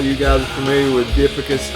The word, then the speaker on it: Dipygus: I'm sure all you guys are familiar with Dipicus. I hear some people say Dipygus. I've never heard the band say their own name, so I don't know how to say it, but I think it's Dipicus.